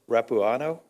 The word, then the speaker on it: Rapuano: It is Rapuano? Is that correct pronunciation?